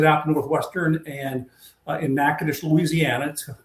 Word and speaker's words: Natchitoches: Northwestern State being one of them, and I took a visit out to Northwestern and in Natchitoches, Louisiana. It's Natchitoches if you phonetically say it, but it's pronounced Natchitoches.